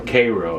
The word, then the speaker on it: Cairo: But in this case, the USS Cairo, or Cairo as they pronounce it back then, a city-class ironclad,